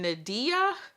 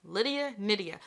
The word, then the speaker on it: Nydia: And she's like, it's like Lydia, Lydia, because I think I was saying Nadia before, not even close. So she's like, it rhymes with Lydia, Nydia.